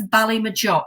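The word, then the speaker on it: Ballymageough: Now, Joshua Morris sent this over to me, and he explained that although the band is called, and I'm going to spell this, Bally Mageouch, it's pronounced as Ballymajock.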